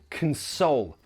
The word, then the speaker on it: console: Again, the stress is here, console. So that first syllable is a schwa, k, console.